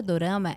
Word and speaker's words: Dorama: verdade é que o a palavra Dorama ela vem do Japonês da forma como eles pronunciavam quando eles iam dizer drama eles pronunciavam Dorama e assim ficou só